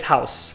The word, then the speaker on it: house: E você traduziu para o inglês house, certo? House. Posso dar uma dica de pronúncia? House. É com S. É S. com S, exatamente. A escrita não demonstra isso, house, né?